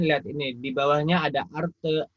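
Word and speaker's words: artı: Ya, ini cara bacanya, lihat ini. Di bawahnya ada arte, eksi, carpe, sama bolu.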